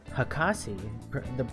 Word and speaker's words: hakase: Jean says, however, if someone has a doctorate of some kind, then the more appropriate honorific would be hakase. That's pronounced Hakase.